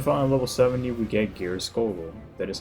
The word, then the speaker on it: Geirskogul: Then finally, level 70, we get Geirskogul. That is how you pronounce that.